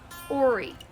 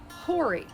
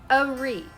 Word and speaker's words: Horry: First of all, in Myrtle Beach and the surrounding areas, the county is pronounced Horry, not Horry. If you're a native, it's Horry.